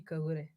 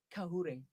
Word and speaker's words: Kagure: Kahure. Kahure. Kahure. Okay, okay. It's a Okay, it very says thingy, because now if you don't say the G softly, then it comes out Kahure, which is apparently a tiny whore.